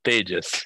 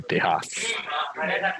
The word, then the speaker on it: Tejas: My name is Tejas. It's pronounced Tejas, but everyone here calls me Tejas. I've even been called Texas a couple of times.